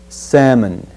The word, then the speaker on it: salmon: word the fish word we will omit the L sound the L and just say salmon salmon sammy salmon we'll